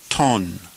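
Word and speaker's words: τὸν: And again, look at the grave accent over the word, and we pronounce it ton.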